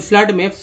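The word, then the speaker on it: flood: FLWD फ्लड में double O का उच्चारण फ्लड, अ के रूप में, और फ्लोर में डबल ओ का उच्चारण जो है ओ के रूप में हुआ है।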